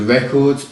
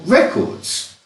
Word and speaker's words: record: am recording my voice notice that the stress is on the second syllable because it's a verb record not record one final example although